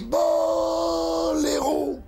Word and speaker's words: Boléro: Et en France, Boléro, l'accent tonique sur beau, hein.